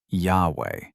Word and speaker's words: Yahweh: The name is the third-person form of the verb to be. Run the rules forward, and you land on 2 syllables. In the 1830s, the German scholar Wilhelm Gesenius weighed all of it and settled on Yahweh.